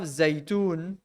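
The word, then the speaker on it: زيتون: So we have Zaitun. Now look at this word Zay. Zay, za, ya is Zay. Now the ya again is not fully pronounced. It's not ya, ye, you. Is a Zay. Zaitun.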